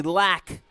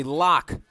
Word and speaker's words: Locke: big number 31 Henry lack on the tackle or excuse me Henry Locke on the tackle though ironically even though his name is pronounced Locke his nickname is the Loch Ness Monster and teammates are fond